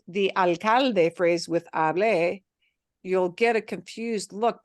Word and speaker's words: hable: If you pronounce that verb as hable, you will really confuse people because hable means I spoke.